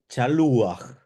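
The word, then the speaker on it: שָׁלוּחַ: participio, eh pues efectivamente en el singular se debe incluir un patag furtivo. Y porque el verbo debe ser pronunciado la última la última letra y entonces queda shaluj, por ejemplo, en el caso del verbo shaliaj eh queda shaluj.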